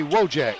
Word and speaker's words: Wojek: It's the way they pronounced it on the PA. They told me Wojek.